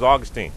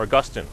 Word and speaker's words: Augustine: The first person to teach the doctrine of original sin was Augustine, or Augustine, depending on how you pronounce him.